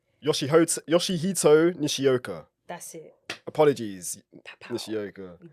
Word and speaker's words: Yoshihito Nishioka: Yoshihito Nishioka.